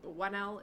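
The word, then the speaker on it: Whannell: I think Wanell is how you pronounce his last name.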